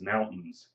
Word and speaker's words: mountains: is a big one we don't say the t we don't accentuate the i and the a it's mountains so that's another form